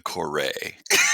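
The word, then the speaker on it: Kore: I call it the Corey. I don't know what you're talking about. It's the Corey. It's the Reliant Corey. CIG officially calls it the Corée. Yes. Hyphen on emphasis on the end.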